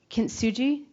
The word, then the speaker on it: kintsugi: Where they take broken pottery, and instead of, it's called kintsugi. Am I pronouncing that right?